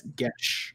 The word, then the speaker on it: Gesh: So Dane looked up how to pronounce this, and he says it's Gesh.